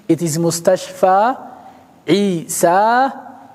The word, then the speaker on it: مستشفى: مقصور موسى عيسى مستشفى they are written like يا with no dots But that is an alif. Even the pronunciation Musa, it's not Musi, it's not Isi, it's not Mustashfi, It is Mustashfa Isa Musa.